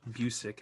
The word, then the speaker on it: Busiek: Like so I was reading at the beginning, you have an introduction by Kurt Busiek, as we found out it's pronounced Busiek, as we found out, yeah.